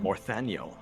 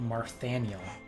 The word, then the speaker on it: Morthaniel: How do you say that dude's first name? Morthaniel? Morthaniel. I thought Marthaniel.